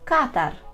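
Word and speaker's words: katar: л кашель кашель нежить Катар Катар майже як Катар як місто тільки з польським наголосом Катар діарея бегунка А якщо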